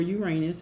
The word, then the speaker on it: Uranus: And Uranus, or Uranus as it's pronounced by some people, sometimes brings a sudden find into your life.